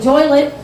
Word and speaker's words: Joliet: I don't know if you guys know the Joylet. We call it the Joylet because it rhymes with toilet, because we're known for prisons, and a lot of us are missing our teeth.